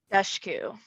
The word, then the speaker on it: Dushku: Dushku.